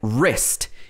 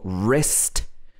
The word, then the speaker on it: wrist: that are common like wrist is this part of your arm between your arm and your hand this is your wrist silent w wrestle means to fight